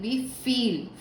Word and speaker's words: wie viel: Wie viel, fíjense aquí, wie viel, la V como F, normalmente.